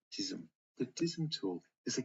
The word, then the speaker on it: DISM: The deployment imaging servicing and management tool is pronounced DISM.